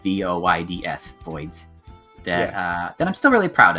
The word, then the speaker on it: Voyds: That's spelled VOYDS, Voids.